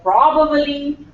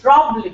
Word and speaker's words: probably: February and this one probab Pro probabbly it's probably probably the word is pro and the stress is on Pro okay not on bad probably